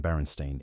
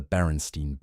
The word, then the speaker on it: Berenstain: The series was created by Stan and Jan Berenstain in 1962 and became a cornerstone of childhood literature.